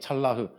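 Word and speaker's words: צלח: 형통하다 이렇게 말이 나와요음 평탄하다는이 말은 히브리말로 찰라흐 이렇게 얘기합니다 찰라흐 어 히브리 발음 찰라 이렇게 이야기하는데 찰라흐이 찰라흐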